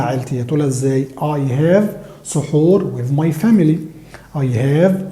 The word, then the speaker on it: سحور: الفجر عشان نستعد للصيام، وبنقولها زي ما هي كده بالظبط سحور، لان اصلها عربي وهي اتانجلزت. اوكي، يعني هم خدوها وجنسوها فبينطقوها زينا بالظبط سحور.